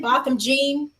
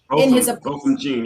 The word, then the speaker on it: Botham Jean: How do you pronounce it again? Botham Jean. Botham Jean, yeah.